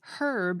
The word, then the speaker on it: herb: For example, the word for a certain kind of plant is pronounced herb in American English and herb in British English.